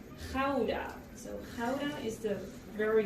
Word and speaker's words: Gouda: But in Holland we don't pronounce it as Gouda or Gouda, we say Gouda.